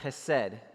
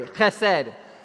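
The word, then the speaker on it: חסד: um relevant to us this word is called Hesed h-e-s-e-d in English and you guys pronounce that with me has said all right some of you need a little more like Hebrew in your life let's try that again one two three I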